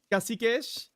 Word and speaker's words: Kasikesh: Kasikesh? Okay, Kasikesh is how Brazilians pronounce it.